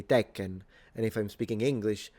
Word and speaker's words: Tekken: But the N is not pronounced in Japanese. I mean, it is pronounced in Japanese, but it's nasalized.